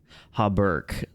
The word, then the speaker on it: Hauberk: I went Breck. I don't know. I've always read it that way. Oh, come on, Google. Why don't you have a pronunciation? Usually it has like the... Give me a pronunciation, please. Here we go. Ready? Hauberk. Wow, I was like so wrong. It's insane.